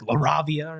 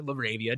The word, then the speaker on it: LaRavia: Obviously, the Rockets signing Dorian Finny Smith, Jake Laravia, or Larabia depending on how you want to pronounce it to the Los Angeles Lakers.